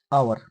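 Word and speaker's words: hour: इसके अलावा एक और है आवर। अच्छा इसमें कौन साइलेंट होता है?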